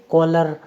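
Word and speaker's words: cholera: आपको याद रखना है कि सी एच से पहले कुछ नहीं हो, सी एच के बाद में ओ वोवेल हो, ओ के बाद में एल कॉन्सोनेंट, एल के बाद में ई वोवेल, उसके बाद में कुछ भी हो, तो ऐसी कंडीशन में सी एच का उच्चारण होगा क।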